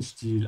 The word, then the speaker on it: Stil: Ja, esti ist st, Stil.